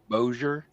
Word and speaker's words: Bossier: Uh, can you pronounce B O S I E R? Bossier. Bosier. Sposure. Bojer.